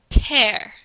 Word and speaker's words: père: You see in the word father, the accent grave is over the E, and it makes the sound go down. Père. Père. You hear how the tone of your voice goes down.